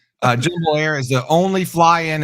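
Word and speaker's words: Jumbolair: do know that now that's that's it's it's pronounced jumble air jumo air is the only fly in and fly out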